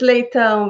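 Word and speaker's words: Leitão: Is it Leto? Whatever you want. I don't care. It's actually How do you Leitao, but pronounce the last name? it's Leitao, but it's impossible for you to pronounce it.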